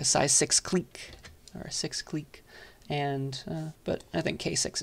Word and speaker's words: clique: also sometimes called a clique it's pronounced Clique this word we use the French pronunciation though like in English when